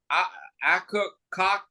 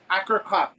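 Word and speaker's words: Akercocke: I think I pronounced their name wrong. It's Akakok. Akakok.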